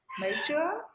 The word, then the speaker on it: mature: second syllable stress. Mature. Mature. Yeah, Mature.